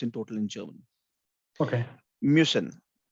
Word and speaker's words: müssen: Müssen. We pronounce it as mü, mü, Müssen.